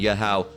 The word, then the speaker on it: Yahweh: All right, but you wouldn't pronounce it like that. All right, you would cut this part, because the ha at the end is just signifying the sound, Yahweh.